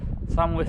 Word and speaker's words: Sandwith: I think I pronounced it Sandwith on one of the clips a few minutes back, and it's actually pronounced Sandwith.